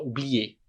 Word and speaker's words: oublier: E a gente não pronuncia esse R aqui, a gente fala oublier, beleza?